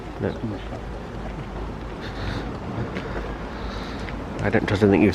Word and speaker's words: Skudeneshavn: So apparently it's pronounced Skudeneshavn. I get very nice. That's it. Skudeneshavn. No, Skudeneshavn.